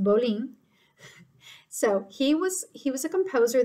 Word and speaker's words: Bolling: It's spelled Bolling, but it's pronounced Bolling.